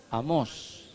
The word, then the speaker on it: Amós: Amós, con acento a la primera vez. Amós, sí, acento en la O dice, ¿no?